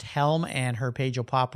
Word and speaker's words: Hjelm: I'll spell her last name, Hjelm, pronounced Helm, and her page will pop right up.